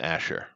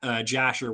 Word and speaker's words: Asher: But no, Asher is one of the 12 tribes. Yeah. yeah. Did I mispronounce it or something? No, well, yeah, I thought you said Jasher with like a J.